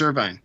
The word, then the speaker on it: Irvine: Oh, it's Irvine. Yeah, like Irvine, California.